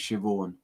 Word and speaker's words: Siobhan: It's pronounced Siobhan.